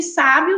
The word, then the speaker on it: sábio: A diferença aí de sábio está apenas na última letra, mas a gente observa uma forma diferente de pronunciar de acordo com a sílaba tônica que cada um tem.